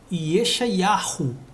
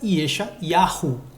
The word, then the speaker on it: Yeshayahu: Jeremias, né, porque a pronúncia correta de Isaías em hebraico é Yeshayahu. Né? Hoje é Ishayal, com a paganização do hebraico. Mas na hora de se ler o Taná, né, no livro dos Navim, dos profetas, a pronúncia continua ainda Yeshayahu.